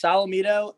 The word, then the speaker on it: Solometo: come from uh so it's pronounced salamido and for me it's